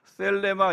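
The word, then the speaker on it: θέλημα: 셀레마입니다. 그냥 편하게 뗄레마라고 했는데 정확하게 영어 공부하신 분들 계시죠? 그 번데기 발음 있잖아요. 세세세마 하라고 해서 셀레마 이게 이제 정확한 뜻인데 그럼 너무 좀 그러니까 뗄레마로 할게요.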